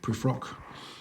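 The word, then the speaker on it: Prufrock: the uh the love song of j alfred proof rock that's how you pronounce it cargo's jabberwocky is one of my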